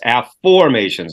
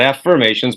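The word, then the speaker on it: Afformations: t i on S AFF formations not affirmations but AFF formations so an AFF formation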